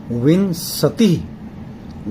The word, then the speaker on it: विंशतिः: ये ऊपर बिंदु है, ध्यान रखिएगा, अनुस्वार। उसको बोलेंगे हम विंशतिः, विंशतिः, द्वाविंशतिः, चतुर्विंशतिः, पंचविंशतिः, अष्टाविंशतिः, नवविंशतिः।